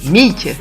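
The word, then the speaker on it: Meak: Alors oui, pour ceux qui me connaissent pas encore, alors mon nom de scène c'est Mick, ça s'écrit M-E-A-K, et j'aime me définir comme auteur, beatmaker et believer.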